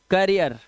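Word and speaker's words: career: अब देखो यहां पर क्या लिखा है, डबल ई के बाद आर आ जाएगा, तो इसका उच्चारण देखो, अब ई है नहीं, अब इया है। देखो ये क्या है, देखो इसे क्या पढ़ते हो, कर रियर, करियर, ठीक है, ठीक है, ये क्या है, करियर।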